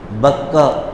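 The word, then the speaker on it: بكة: اس کا مقام بتلایا، بکہ، بکہ مکہ، دونوں تلفظ لغت عرب میں مستعمل ہیں، مکہ بھی کہتے ہیں، بکہ بھی کہتے ہیں۔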